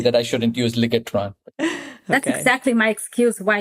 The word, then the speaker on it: Ligetron: we call it um legatron which I tell more later but I will would you also pronounce that legatron I'm going to say that right okay that's legatron okay I just hope